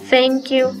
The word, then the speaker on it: thank you: Muy bien, si se dan cuenta, la pronunciación de thank you es como que principiara con una Z.